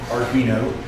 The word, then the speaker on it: Arduino: So I wanted to make sure that it had the right pronunciation, Arduino.